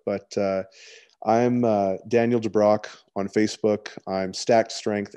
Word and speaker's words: DeBrocke: how do you say your last name daniel de brock okay de brock thank you my friend